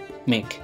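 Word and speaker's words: make: প্রথম টিপস হচ্ছে যে যদি কোন ওয়ার্ডের লাস্টে ই আসে তো বেশিরভাগ জায়গায় সে ওয়ার্ডটা ই টা পড়া হবে না আমি এক্সাম্পল দিয়ে বোঝাই যে এম এ কে ই মেক তো এখানে শুধু যদি আমি শুধু যদি আমি এম এ কে লিখে দিই তবুও উচ্চারণ হয়ে যাবে মেক ই এর কোন উচ্চারণ হলো না ঠিক এই মতোই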